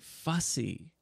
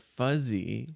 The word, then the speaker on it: fussy: yeah but he just he missed one little sound right and he said fuzzy yeah which is a